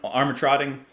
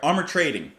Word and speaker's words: Armatrading: let's listen to to Joan armatrotting uh or I'm sorry armor trading one of you have given me the pronunciation armor trading with her track down